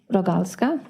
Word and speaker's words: Rogalska: record yes good morning my name is rogalska that's spelled a g is in gregory n is